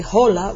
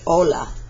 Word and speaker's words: hola: An H in Spanish is silent. For example, if we have the word hello in Spanish, we don't say hola, we say hola.